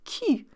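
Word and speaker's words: cul: like my father-in-law did you will actually recognize the word cue we just fell see you l but the L is silent because in English you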